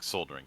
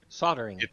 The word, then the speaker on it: soldering: soldiering sorry not soldering soldering sorry soldering soldering the L is silent for some reason yeah language is weird